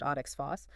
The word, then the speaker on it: OXPHOS: So, the ETC components, the proteins that actually perform oxphos, pronounced oxos, oxidative phosphorilation, they're made from instructions in both the nucleus and the mitochondria's own DNA.